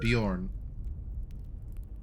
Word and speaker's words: Bjorn: name or beyond or how do you spell b j or rn anyway so uh pronounce that bjorn and what you see